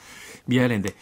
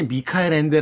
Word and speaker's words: 미하엘 엔데: 데에 모모 라는 책인데요 미하엘 엔데 당시의 이제 미카엘 엔데 라고 작가 이름을 발음 하기도 했었고 모모의 대해서 또 근데